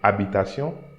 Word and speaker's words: habitation: Les habitants, you see, I'm not saying habitants, les habitants, ville comme campagne, décorent leur habitation, again here that H I'm not pronouncing, habitation, et achètent des calendriers de la nouvelle année.